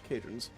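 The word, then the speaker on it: Kae'drans: K-A-E apostrophe D-R-A-N-S, Cadrons.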